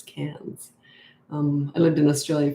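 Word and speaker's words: Cairns: A lot of people think that's pronounced Cans, but it's Cans.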